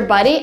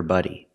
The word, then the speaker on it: body: that you can use I cannot say wash your buddy buddy we have two words we have body with the open a sound like hot and stop body wash your body and we have buddy with a short uh sound like cup and up buddy my buddy is my friend this can